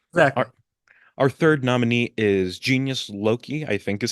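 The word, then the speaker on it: Genius Loci: our third nominee is Genius Loki, I think is how you pronounce it. Then again, uh, I know it's not pronounced the correct way, which is like in Latin, where it's like Loci, but I think it's Yeah.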